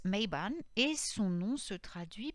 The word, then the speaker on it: Mabon: mabine ou non mais bon se prononce mayban et son nom se